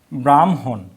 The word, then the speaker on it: ব্রাহ্মণ: এখন আমরা এটা হ যোগ ম, উচ্চারণ হয় কি? MHO। তাহলে এটা কি হচ্ছে? ব্রাহ্ম হ। ব্রাহ্মণ। এই মূর্ধন্য তো থাকবে না, মূর্ধন্য তো আমরা লিখবই না বলছি, সেজন্য এটা ব্রাহ্মণ। তাহলে এটা গেল।